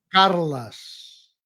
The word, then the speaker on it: Carles: Carlas. Carlas. Ah, es diferente también. En catalán. En catalán la e se pronuncia a generalmente.